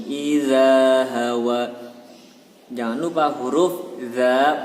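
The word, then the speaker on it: ذ: Kalau huruf za itu lidahnya dikeluarkan sedikit dan ditempelkan ke gigi atas. Za. Dan ada sedikit angin yang keluar dari sela-sela lidah dan gigi atas. Za.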